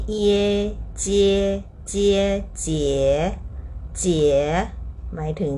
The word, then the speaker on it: 节: ถูก ต้อง นะ คะ คำ ว่า เจี๋ ไม่ ใช่ สระ เอีย ธรรมดา นะ คะ เป็น อิเอะ นะ คะ เจี๊ เจี อ่า คำ